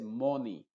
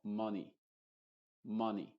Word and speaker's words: money: esto se pronuncia como money money ma ma ma no es ma ma con la boca bien abierta sino que es ma es como si no quisieses liberar la vocal a money Honey come done